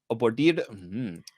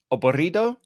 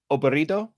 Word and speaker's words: aburrido: Today, I've got random vocabulary for you to pronounce. So, abordido. Oh, this one's going to be hard. He gave you double R's there. Aburrido?